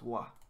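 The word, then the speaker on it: は: And then this one, ha, ha, is sometimes pronounced wa. Ha. When it's used as a particle.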